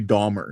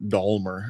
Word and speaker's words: Dahmer: Yeah, so it's Jeffrey Dahmer, not Dahmer. There's no L in it.